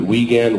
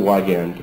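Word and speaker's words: Wiegand: is the WAN standard some of you may pronounce it wean Wan Wan I pronounce it wand and for me that's correct and there's several different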